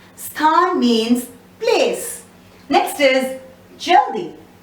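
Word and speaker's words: जल्दी: Next is jaldi. Again, la is just touched upon.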